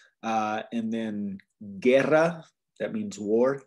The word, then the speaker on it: guerra: it would be kian right uh and then guerra that means war guerra and then gia okay does that make sense